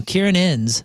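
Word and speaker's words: Ciarán Hinds: How do you pronounce this guy's name? Kieran Innes.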